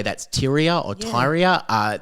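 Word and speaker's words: Tyria: I would say that's Ty or Tyra. Uh they say Tyra is how you pronounce her.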